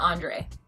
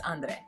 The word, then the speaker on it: Andre: Then they're like, oh, can we call you, do we have to roll the R? And he's like, you can say it however you want, just say it right, which basically means like, no, my name is Andre. It's not Andre, it's Andre.